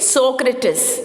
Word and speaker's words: Socrates: r a t e s how do you pronounce this word it is socrates okay socrates plato and aristotle more food she